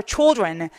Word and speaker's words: children: 자, 여러분 발음하실 때요, L 발음이 여기 사라진다고 보시면 될것 같아요. 그래서 발음하실 때 어떻게 하냐면 children. 자, 여러분 이런 거 발음할 때 T하고 R하고 같이 있으면 제가 70반에서 발음을 설명드리는데 추 발음이 나요. 자, 그러면 얘는 뭐라고 했어요? 주 발음이 나겠죠. 그래서 children이라고 발음하시면 돼요.